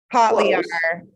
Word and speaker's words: Kotlyar: Kotlyar.